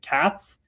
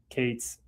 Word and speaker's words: Cates: My last name is pronounced with a long A. Katz? Katz? Cates.